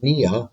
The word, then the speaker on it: pnea: uh the work word uh root nia p-n-e-a-p-n-e-a is to breathe so if the patient